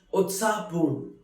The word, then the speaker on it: उत्साहपूर्ण: Utsahpoon, which is pronounced as Utsahpoon, which means very excited, very lively.